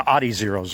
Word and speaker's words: Adizero: So in anticipation of that, that's why I ended up buying the Adizeros like I did, or Adizeros, excuse me. Trying to pronounce that in the German proper.